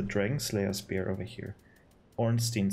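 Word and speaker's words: Ornstein: Slayer spear over here orstein spear or probably better pronounced orstein or onstein cross spear associated with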